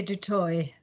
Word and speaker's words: Du Toit: Okay, and is it Dutoit? How do you say your last name? In South Africa, they say du toit. So Dutoit, no T. Okay, Dutoit. Du toit, the French way, but anyway.